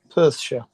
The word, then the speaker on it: Perthshire: Yeah, Perthshire.